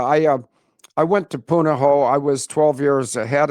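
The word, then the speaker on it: Punahou: that Obama went to in Hawaii and it's pronounced Punoho and it's spelled P U N A H. Uh, O. I think that's right. Uh yes. But yeah, I uh I went to Punoho.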